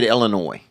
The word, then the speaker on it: Illinois: how you say it I say Illinois because that's how I say it too which means that there's a silent s which is you know